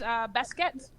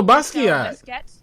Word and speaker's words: Basquiat: Oh, Basquiat. Basquiat. It's Basquiat. It's Basquiat. Okay. It's not Basquiat, it's Basquiat. That's how most people pronounce it, is John Baptiste Basquiat. They can't speak French then.